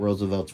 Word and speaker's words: RSVLTS: You know, go check out Roosevelt's website. And that's spelled RSVLTS.